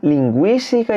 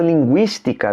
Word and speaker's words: linguística: Palavra linguística, veja que tem trema em cima do U, porque pronuncia o U.